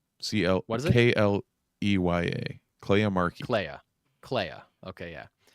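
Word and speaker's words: Kleya: It rhymes with Leia, which I think is weird because she kind of looks like Carrie Fisher. She kind of looks like Princess Leia Yeah. in a weird way. So it's strange to me that they have a name that rhymes with Leia or sounds like Leia.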